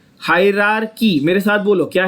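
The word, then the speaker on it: hierarchy: हायरार्की। मेरे साथ बोलो, क्या है वर्ड? हायरार्की। बहुत लोग इसको हायरार्ची, बहुत लोग इसको हायरार्ची बोलते हैं, वो गलत है।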